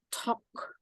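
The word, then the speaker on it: talk: misalnya begini l-nya tidak dibaca jadi l nya itu dibuang l nya itu silent ya Jadi dibacanya itu Tok juga plosif Jadi dibacanya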